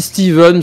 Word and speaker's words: Stephen: Apparemment ça se dit Steven, ça s'écrit Stephen parce que ouais.